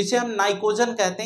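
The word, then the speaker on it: pnictogen: 15थ group को नाइट्रोजन family या इसे हम नाइकोजन भी कहते हैं। क्या कहते हैं? नाइकोजन। पी साइलेंट है।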